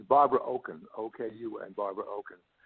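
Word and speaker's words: Okun: say Barbara's last name correctly what is the pronunciation of her last name that's fine it's Barbara Oaken okay you and Barbara Oak okay Oak yeah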